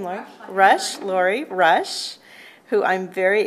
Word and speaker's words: Rusch: Rush.